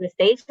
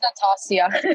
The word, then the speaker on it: Natasha: Nastasia, am I saying your name correctly? Please correct me if I'm saying it wrong. It's Natasha. It's Natasha.